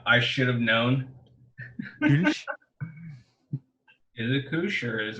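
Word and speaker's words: Kölsch: I think in its native German, it's pronounced Kirsch. Kirsch. The little two dots on the O make the U sound.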